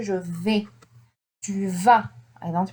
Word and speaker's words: vas: I say tu vas et il, elle va. Mais là, tu, it ends with S. Don't forget this. Tu vas. I don't pronounce the S, but it's here.